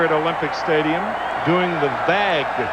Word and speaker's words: vague: The fans here at Olympic Stadium doing the vag v a gu, which is the French pronunciation of the wave.